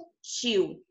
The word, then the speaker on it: útil: Então, ó, útil. Tá vendo aqui a palavra útil? Útil aqui, ó, é a última sílaba da palavra, não é? E aqui o U é a penúltima. Como ele está acentuado, então ele é a mais forte, tá?